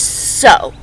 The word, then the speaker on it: sow: The next word is sow, but it's spelled S-O-W. Kind of like the word cow, C-O-W. Well, this word is sow, S-O-W. Not like you sew a shirt together. Not like I am so hungry.